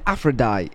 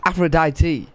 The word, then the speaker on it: Aphrodite: Oh, I was saying Aphrodite. It's Aphrodite. Oh shit, I've been saying it wrong the whole entire time.